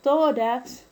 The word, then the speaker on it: tórax: El término tórax es una palabra grave y lleva tilde porque termina en una consonante diferente a N y S. Entonces es una palabra grave con tilde.